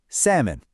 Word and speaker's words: salmon: The clue here isn't what you're hearing, it's what you're not hearing. Did you figure it out? The answer is a silent L.